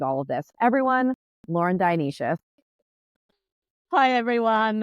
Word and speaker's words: Dionysius: Lauren Dionysius, which I have just learned is how you pronounce her name, and I'm very excited about